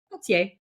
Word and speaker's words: Pelletier: Pelletier.